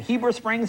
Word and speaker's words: Heber Springs: Now tell us, is it Heber Springs? Am I saying it right? Yes, sir.